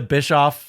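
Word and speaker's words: Bischoff: ever heard for aw did you see the Bish off like in an airport uh Ariel hanani interview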